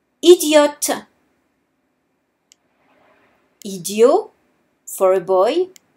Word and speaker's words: idiote: However, if I'm speaking about a girl, I would add an E at the end of the word. Idiote. Idiot for a boy. Idiote for a girl.